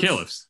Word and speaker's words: caliphs: Caliphs, yeah, caliphs.